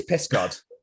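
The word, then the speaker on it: Pysgod: Because Tenby is called something other, Piss God. Yes. And I took the piss, literally. And I actually pronounced it correctly. And I was like, oh, it actually is Piss God.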